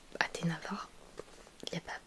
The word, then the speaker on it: Athéna Var: Et ensuite la particule var, donc Athéna var, c'est comme ça qu'on prononce. C'est une particule de mon nom de famille. Donc du coup, Athéna var, bon, j'ai pas plus réfléchi.